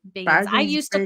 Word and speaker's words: Baggins: Yeah, he pronounces his name Baggins.